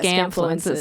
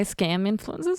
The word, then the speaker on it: Scamfluencers: Yeah, Scamfluencers. I was going to say scam influencers. Which That's is not it.